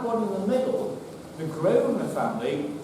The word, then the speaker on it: Grosvenor: Because it's only in relatively recent terms they've softened the name down to Grosvenor. They used to pronounce it Grosvenor, which of course means master of the hunt or big hunter.